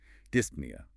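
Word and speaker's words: dyspnea: p nea breathing the p is silent just to annoy us of course apnea no breathing dispnea trouble breathing petinia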